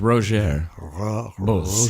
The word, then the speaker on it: Rogier Bos: He rolled his R's. Rogier Bos. Rogier Bos. Something like that.